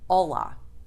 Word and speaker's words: olá: Almost everyone knows the word hola, meaning hi or hello. Pay attention to the pronunciation if you know Spanish, because the L sound is different between languages.